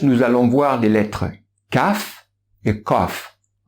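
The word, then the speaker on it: ك: allons voir des lettres caf est cof la lettre caf elle est équivalente au cas en france est là être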